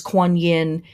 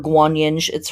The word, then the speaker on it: Guanyin: As much as Kuan Yin or Guanyin, her name is pronounced both ways, as much as she